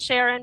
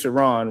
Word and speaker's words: Chiron: What's your end result, Sharon? Because you always have an agenda. My name is Chiron, right? And so my name is Chiron. And you please pronounce my name properly.